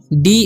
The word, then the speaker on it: day: Last में रहता है तो ए वाई का ए का जो उच्चारण होता है ए हो जाता है और देर तक होता है, ठीक है। तो डी से होगा ड और ए वाई का हो जाएगा ए, तो डे, ठीक है।